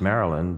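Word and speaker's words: Marylyn: And she was named Marilyn, spelled M-A-R-Y-L-Y-N. See, most of the staff here don't even know that her real name is Marilyn, really Mary Lynn, pronounced Marilyn, but nobody ever calls her Marilyn.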